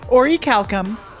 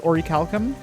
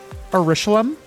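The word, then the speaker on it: orichalcum: a game that had Orie Calcom he pronounced it as a Orum what is an Orie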